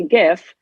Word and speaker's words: gif: was sent me a gif or jiff however you would like to pronounce it and said right now